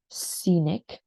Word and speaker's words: scenic: so one more time it's Scenic so the C in here is very much silent right so the C is very much silent Scenic um and business so the I is quite silent as well so like business right business Scenic and this applies to the word say scene right a scene of something say Scenic scene um and then business